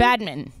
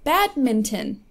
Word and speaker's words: badminton: pronounce that again Mac badminton badmin no badminton badminton there's an n in there badminton there's not an N yes there is badminton there's man no but